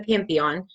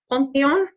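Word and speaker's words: Panthéon: And I believe that they pronounce this slightly different, Pantheon. So it's a little bit different in French.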